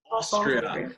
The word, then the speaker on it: Austria: how do you say Austria in English of Austria very good Austria so no come espanol so